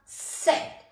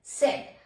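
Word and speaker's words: Zett: लन बोला जाता है जड जड का सेट सेट अब आप इसमें कई बार ये देखोगे कि जैसे जड है जड को सेट बोलते हैं तो ससा की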